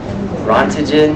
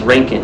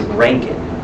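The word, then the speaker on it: Röntgen: but breaking it's pronounced Rankine it's because it's German so being German the letters are not pronounced like we would think they are so his name is ranking okay so I always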